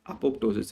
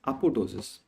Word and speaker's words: apoptosis: said that it's not apop Tois it's apotosis right the upop is different the P here is silent right toses means drooping